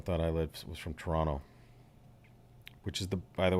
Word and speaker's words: Toronto: the Toronto stuff it's Toronto yeah the the second T is swallow exactly is silent Toronto Toronto yeah Toronto